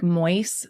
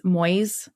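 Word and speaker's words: Moïse: And he began telling people that he was um it's pronounced like Moyes. Moyes. M OI with the little things over S E which he said was Moses reborn.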